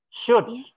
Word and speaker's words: should: Should. You shall. Bukan shall, should. Should. Huruf O sama huruf L-nya nggak dibaca.